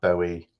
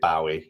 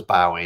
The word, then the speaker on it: Bowie: that tortoiseshell moon says i pronounce bowie like you do too bowie yeah david bowie lots of people do don't they um and i was convinced it was by our way until something no no